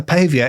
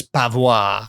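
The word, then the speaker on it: paviour: is to Windows a Pavia is to Paving oh yeah very nice that is good but it's spelled p a v i o u r oh so I was reading as pava pava Excuse Me Miss Pavo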